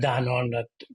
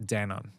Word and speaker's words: Danone: What did you learn from your time at Danone? Is that how you pronounce it? Danone? Danone? Yeah, Danone. Okay. Perfect. Yeah, it's Danone in Mexico, but Danone in the US.